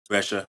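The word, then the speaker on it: Brescia: Played at uh was it Brussia? Am I saying it right? Brussia.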